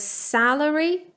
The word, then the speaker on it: salary: accent when you pronounce 'salary', so, it's the /æ/ sound, you're going to bring your tongue a little bit lower than in 'celery'. So, that's for example how I pronounce it: 'salary', 'celery'. But I'll just remind you